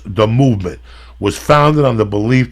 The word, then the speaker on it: MVMT: to you about it mvmt watches all right pronounce the movement was founded on the belief that style shouldn't